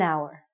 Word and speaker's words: hour: sounds like a vowel because the H is silent we have to say an hour okay you got it